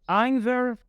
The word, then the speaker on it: either: The last two words you can pronounce as either and neither. There is no difference, so all these three words are used to talk about two things or people.